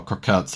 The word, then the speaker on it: croquette: Crocett. I don't know how you pronounce that actually. I'm googling it. Oh, croquett apparently.